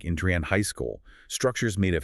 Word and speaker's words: Andrean: Locally, it is pronounced Andrean High School.